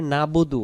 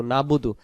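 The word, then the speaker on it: نعبد: হলো এবাদত আর যখনই আমরা পড়ি নাবুদু নুন জবর না বা পেশবু দাল পেশ দু নাবুদু নাবুদু শব্দের অর্থ আমরা এবাদত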